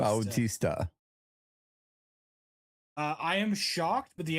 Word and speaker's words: Bautista: You've got to pronounce the U in Bautista. Bautista.